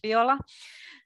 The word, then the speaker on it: Viola: Then Viola, this is Finnish pronunciation, it's Viola, and it is the